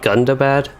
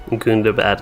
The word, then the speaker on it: Gundabad: So it was spoken like Gundabad, it sounds like. Yeah, it could also be some like accents. I don't know if what accent it would be that would say Gundabad instead of Gundabad, but